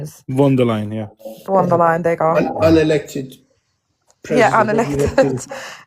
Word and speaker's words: Von der Leyen: from European Union countries, including Ursula, I can't pronounce the surname, Dal, whatever her surname is. Von der Leyen, yeah. Von der Leyen, there you go.